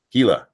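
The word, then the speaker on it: Hila: Hella, thank you. Hela, that's how you say it.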